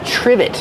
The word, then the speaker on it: trivet: Ah, this is a trivet. Trivet. Use the short I like this is and the v sound. Triv. Trivet. It starts with tr. So we make the ch sound like chicken together with the r.